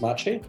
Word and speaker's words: Maciej: I go by my real name is Machi I'm happy to be here with you Lisa